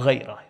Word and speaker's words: ghayrah: Jealousy is ghayrah or ghayrah, pronounced both ways.